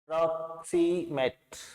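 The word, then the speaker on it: proximate: प्रॉक्सीमेट, यहाँ ओ की ध्वनि है, ये प्रॉक्सी और मैट, इसे ए की ध्वनि बोलो, प्रॉक्सीमेट।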